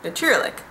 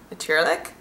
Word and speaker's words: natuurlijk: that of course is the best translation for natuurlijk. I pronounced that really country, didn't I? Natuurlijk. Natuurlijk?